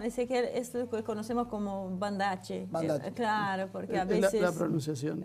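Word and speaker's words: Banda Aceh: Y se escribe Banda AC con H al final. Generalmente en indonesio la C se pronuncia como CH.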